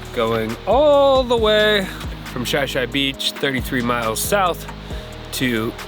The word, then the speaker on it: Shi Shi: About 3 miles in here, we just passed Chillean Beach.